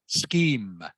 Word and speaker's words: scheme: word here is pronounced scheme Vietnam scheme can you say that please scheme scheme yeah so in this word the CH is pronounced like a k okay so it is